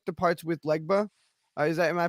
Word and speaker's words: Legba: great um I particularly like the parts with legba is that am I pronouncing that right yeah okay yeah I and